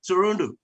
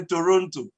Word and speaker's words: Toronto: Well, in Canada, we are located in Toronto. That's how they say it, you know. With some of us, we used to say Toronto, but they keep telling us that it's Toronto.